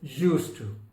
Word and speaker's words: used to: So D is silent in used to.